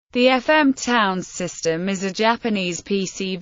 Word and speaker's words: Towns: make it clearer that the term was to be pronounced like the word towns rather them the potential